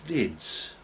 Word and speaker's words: Knids: things called them vermicious knids pronounce the k and these are like